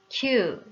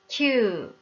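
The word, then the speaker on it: きゅう: 장음으로 길게 말해야 하는 거 알죠? 큐, 큐, 큐.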